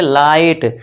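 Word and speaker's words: light: belief फिर सिक्स देखिए जब वर्ड में आई के बाद जी एच टी आए तो आई को आई से पढ़ें और जी एच हमेशा जो है इसमें दोस्तों देखिए साइलेंट रहेगा ये ध्यान देना है अब देखिए इसमें देखिए इसे क्या पढ़ेंगे लाइट तो ये जी एच साइलेंट रहेगा बस एल के लिए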